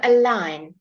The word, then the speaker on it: align: Okay, so here we're going to go through the silent G. Fantastic. In Italian, it changes the sound of your pronunciation. So your GN is a different sound, but in English, just keep it silent, okay?